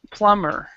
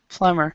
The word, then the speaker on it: plumber: very good pronunciation too you actually do not pronounce the b here so it's plumber plumber okay um bathroom has